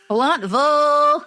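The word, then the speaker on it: Blountville: It's pronounced Bluntville, Tennessee.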